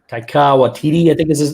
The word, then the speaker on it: Taika Waititi: Taika Waititi, I think this is how you say it.